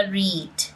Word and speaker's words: read: कि क्या आपने ओलंपिक झंडे का मतलब जो है रेड या रीड? अब यहां पर आप देखें वैसे जो रीड की सेकंड और थर्ड फॉर्म होती है उसको भी हम प्रोनाउंस रेड ही करते हैं।